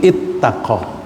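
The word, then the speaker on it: اتَّقى: Karena sulit mengucapkan iutaqa, maka wawunya diubah menjadi ta supaya mudah diucapkan, maka menjadi ittaqa.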